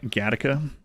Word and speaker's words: Gateacre: live near a village the local say it's like Lo say like gataa but it's spelled gateacre GAA some jerk pulling up